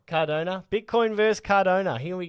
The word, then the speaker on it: Cardano: jonno Bitcoin vers how do you say it Cardona Cardona Bitcoin vers Cardona here we go so tell